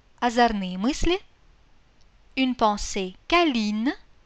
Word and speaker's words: câline: Câlin, câline. Coquin, coquine. При этом непроизносимый конечный звук «т» становится произносимым. Petit, petite. А носовой – не носовым. Câlin, câline.